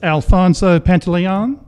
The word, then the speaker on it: Alfonso Pantaleon: And with you today is Alfonso Pantaleon. Did I pronounce that correctly? Yes, sir.